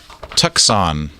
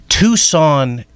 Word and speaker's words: Tucson: of tux on tuckson how do you say that Texas on Arizona Tucson Arizona how do I say it like you just had a stroke tux in Arizona and out of Tucson here's now yeah you're right is Tucson I don't know what I was thinking well do you would you imagine that Tucson is spelled with the C yeah it is weird it is weird just